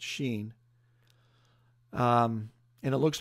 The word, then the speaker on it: shin: the Hebrew alphabet there's a letter in the Hebrew alphabet called the shin or they pronounce it's Sheen and it looks like